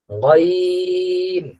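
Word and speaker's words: غين: উচ্চারণটা হবে আইন আইন গনের উচ্চারণটা এই যে আমরা এখানে স্ক্রিনে দেখতে পাচ্ছি যে গলার একেবারে শেষ প্রান্ত থেকে এটাকে বলে হলকের শেষ হইতে গাইন গাইন আবার বলি ত জইন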